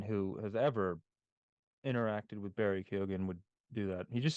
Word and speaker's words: Barry Keoghan: feel like you're trying to say his name with an Irish accent, but keep it American.